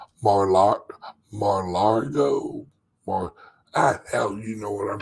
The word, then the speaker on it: Mar-a-Lago: Mariargo? Mar-Largo? Hell, you know what I'm talking about. I'm trying to set up a links event at Trump's Mar-a-Lago place in Florida.